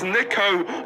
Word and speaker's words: Niko: It's Niko, not Niko.